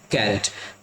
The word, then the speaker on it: carat: तो इसका सही प्रोनाउंसिएशन होता है CARAT कैरेट।